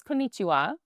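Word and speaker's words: こんにちは: So the word for hi or hello is konichiwa. Do you want to say that back or should we do it in like syllables like Yeah, there you go.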